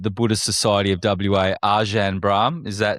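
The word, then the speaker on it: Ajahn Brahm: And the world famous monk and abbott at the Buddhist Society of WA, Ajan Brah. Is that how I say his name? I say Ajan Brah.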